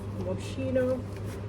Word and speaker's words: Moschino: But anyways guys, let me just show you this cute handbag that I got from Love Moschino. That's how you pronounce it.